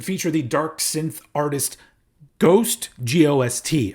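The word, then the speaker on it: GOST: And there's even 2 tracks that feature the dark synth artist Ghost, G-O-S-T. I've heard that's how it's pronounced, but it's not that Ghost, it's the synthy Ghost.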